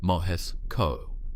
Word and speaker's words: Moscow: However, when assembled, this intelligence gave Moscow, pronounced Moes CO, a comprehensive picture of American military modernization programs.